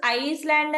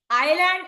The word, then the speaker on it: island: Option A, island is the answer. The word island has a silent S.